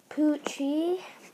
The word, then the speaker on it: Pucci: her name is pronounced poochie it sounds like p-u-c-h-y i guess but it's not spelled like that here's poochie here's poochie here's poochie